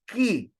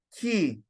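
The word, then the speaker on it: χ: chi other Greek grammarians would describe us as key from the the Greek uh name the Jesus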